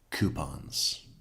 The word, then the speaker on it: coupons: Um, does everybody say coupons in the States or does some people say it properly like coupons?